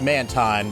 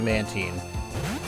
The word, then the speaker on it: Mantine: Alright, Mantine is its evolution, which I always mispronounce as Mantine, but I think is actually Mantine.